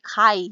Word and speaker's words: chi: chi-kuadrat atau chi-square ya ini sebetulnya Bu bacanya bukan chiya tapi Kai gitu kain Disini di ahu